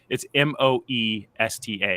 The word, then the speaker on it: Moesta: It's Moesta. It's actually not hard to spell, but it's just the spelling doesn't look like the pronunciation.